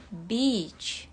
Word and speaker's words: beach: Ini artinya pantai dan pengucapannya itu beach. Beach. Jadi agak panjang, enggak gitu. Jangan pendek ya. Beach. Ini untuk British dan American itu katanya sama, pengucapannya sama. Sama-sama i-nya agak panjang.